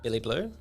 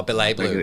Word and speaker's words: Billy Blue: Billy Blue? Yeah. No, Billet Blue. Oh, Billet Blue is how it's pronounced. I apologise. Yeah. Don't get it twisted. It's a silent A. Well, not really that silent.